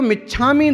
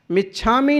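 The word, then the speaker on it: मिच्छा मि: मिच्छामी नहीं है, मिच्छा में, मिथ्या में, मेरे दुष्कृतम मिथ्या दुक्कडम। मिच्छामी दुक्कडम बोलेंगे तो उच्चारण ही सही नहीं हुआ भारतीय प्राकृत भाषा के हिसाब से।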